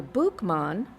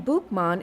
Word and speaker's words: Boukman: The name Boukman is thought to be the French pronunciation of his nickname in English, Bookman.